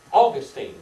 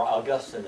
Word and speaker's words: Augustine: Augustine, or Augustine as some people like to pronounce his name.